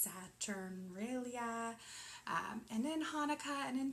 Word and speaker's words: Saturnalia: There's a lot of corresponding themes in Christmas and in Yule and in, I think it's pronounced Saturnalia, and in Hanukkah and in Diwali.